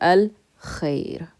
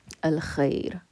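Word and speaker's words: الخير: Doesn't use your tongue, so it's Qamari, it's a moon letter. Going to pronounce the Al regular. Al-Khair. Al-Khair.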